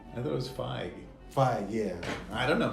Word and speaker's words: Feige: Does it present itself an opportunity for possibly James Gunn, being the Kevin Feige of DC Universe? Is that how you say his name? I thought it was Feige.